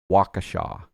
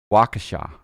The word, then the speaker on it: Waukesha: Atlantic hanger it's pronounced Waukesha Lakeisha like you know someone from The Cosby Show or something Waukesha I gotta remember that